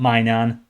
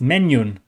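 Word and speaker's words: Maignan: that told me that the correct pronunciation for my goalkeeper is not my nan or Minion or whatever I've been calling him it's menu it's Mike menu I think I'm saying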